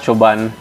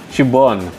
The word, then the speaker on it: Siobhan: I was told that it was that kind of pronunciation. Not Siobhan. Siobhan.